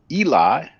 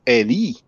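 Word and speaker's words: אלי: translate by god and in english we we pronounce eli but in hebrew it will be pronounced ali so it's the same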